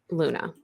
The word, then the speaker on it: Luna: They are fighting over a game and they are not having any luck finding a dress for Luna.